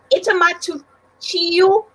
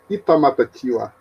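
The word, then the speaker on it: Itamatatiua: Itamatuchio. Is that correct? No, it's Itamatatiwa.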